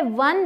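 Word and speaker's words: one: अब ये क्या है, वन legged bird, वन legged bird ए आएगा क्योंकि ये व का साउंड दे रहा है, व, ठीक है, व व्यंजन है।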